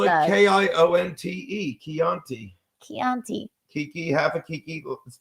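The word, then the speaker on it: Kionte: I We would love spell it love. K-I-O-N-T-E. Chianti.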